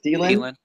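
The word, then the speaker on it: Adam Thielen: Thielen?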